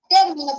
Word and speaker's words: terminó: mayor fuerza de voz está en la última sílaba, se tilda. ¿Listo? Nada más hay que saber. Ahora, ¿qué dice ahí? Terminó. Terminó, profesor. Terminó. ¿Cómo? Terminó. Terminó. Terminó. Terminó. Terminó. Termino, profesor.